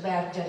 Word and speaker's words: Berger: di sguardi di John mi hanno detto si dice Berger io lo pronuncia da tedesca John Berger quando parla di CNA